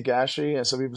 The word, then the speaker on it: Gashi: your name properly the the real way to pronounce it is gashi okay and where did